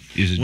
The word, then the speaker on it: Isidore: Isidore. When is a door not a door? When he's adorable.